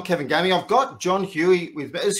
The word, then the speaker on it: Huey: I've got John Huey with me. Is Huey the right pronunciation there, John?